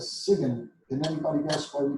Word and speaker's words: sign: Now you notice we pronounced S-I-G-N as Siegen.